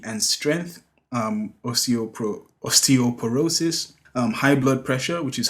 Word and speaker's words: osteoporosis: is a condition I believe is called osteoporosis osteoporosis that's how you say it and high blood